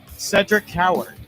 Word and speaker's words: Cedric Coward: Is that how you pronounce it, by the way? Cedric Coward. That is correct, yeah.